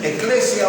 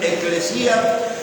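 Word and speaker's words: ἐκκλησία: Pues la palabra iglesia, la palabra eclesía, algunos dicen eclesia, otros pronuncian eclesía, pero lo importante es que ese término significa los llamados afuera.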